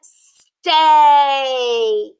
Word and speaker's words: steak: pattern are great see how it has that long a sound and the word steak i like to eat